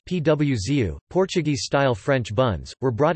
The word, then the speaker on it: pãozinho: producer of these nuts, and pauzinho, pronounced pwzu, Portuguese-style French buns, were brought in by the Portuguese.